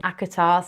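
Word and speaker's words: ACOTAR: So that series they pronounce it acar that's like the abbreviation of that. Um and then thrown of glass.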